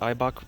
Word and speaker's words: Eibach: right now with the eibach that's how you pronounce it eibach camera bolts for the rear negative three is